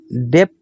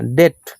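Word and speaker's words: debt: বি হলে কিন্তু বি এর মানে উচ্চারণ হয় না। ডেপ না ডেট।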